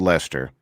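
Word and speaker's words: Leicester: how would you spoil a community called Lester Elle est er okay obnoxious le i CH es tu that's only because you saw it no no it's only because you said how would you pronounce Lester kind of prep probably the same way you pronounce werster a little bit yeah but we see it's but it's le I see est ER which is always super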